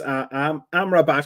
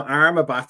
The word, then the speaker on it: Amrabat: But I've just been trying to pronounce Amrabat because I've been calling him Armabat since he got United. I've just realised when you said it, I've been saying it wrong.